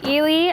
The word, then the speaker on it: Eley: parts so you guys this is an ele I think that's how you pronounce it elely e l e y hose reel uh we